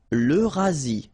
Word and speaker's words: l'Eurasie: L'Eurasie, final E not pronounced.